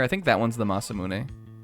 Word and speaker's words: Masamune: I think that one's the Masamune. Or as everybody who played RPGs when they were like young, the massammune.